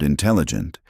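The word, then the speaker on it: интеллигент: The Russian word intelligent, pronounced with the stress on the last syllable, does not translate directly into English.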